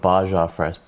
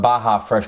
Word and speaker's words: Baja Fresh: called I called it bajar fres it's yeah yeah yeah cuz in Mexican no it's not a silent J J is pronounced as a h man yeah whatever so anyway got Baja Fresh got myself chicken big